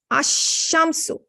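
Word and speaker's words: الشمس: But notice here, we did not pronounce the lam. We said ash-shamsu.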